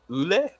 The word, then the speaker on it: Yule: It is a Gaelic name. It's normally pronounced Ule, but I thought Yule sounded prettier.